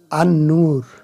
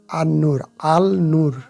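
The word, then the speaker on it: النور: আর একটা দেখুন নিচে, আন-নূর, আল নূর নয়, আন-নূর, কারণ নুনটা হলো শামসিয়া হরফ আসাতে লাম অদৃশ্য থাকলো, অস্পষ্ট থাকলো, উচ্চারিত হলো, অর্থাৎ লাম তারার সাথে তুলনা করেন।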